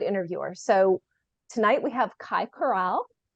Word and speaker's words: Kai Corral: So tonight we have Kai Corral. Did I say it right? Yes, you said it right.